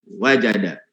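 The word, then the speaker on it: وجد: Wa qad qila, dan sungguh dikatakan, man talaba syai'an wajadda wajada. Bacanya gitu ya. Man talaba syai'an wajadda wajada. Yang kedua, jadanya enggak pakai, wajadanya enggak pakai tasdid, tapi yang pertama pakai tasdid.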